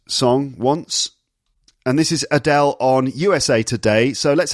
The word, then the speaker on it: Adele: London or estuary English you can hear it in the way she says the L sound at the end of her name so not Adele lalala not Adele but Adele so it's like a war sound like a w